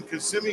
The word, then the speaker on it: Kissimmee: We were just in Kissimmee a couple days ago. Week ago. Took me a minute to remember how to pronounce that.